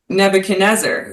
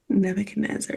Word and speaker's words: Nebuchadnezzar: And he has a lot of religious um references in this letter like some guy named Neb Nebuchadnezzar who I didn't even know how to say